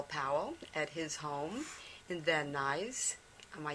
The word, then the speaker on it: Van Nuys: Van Nuys.